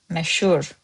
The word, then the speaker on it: Məşhur: In spoken, məşhur olmaq, məşhur, is as if you are saying double sh in this word.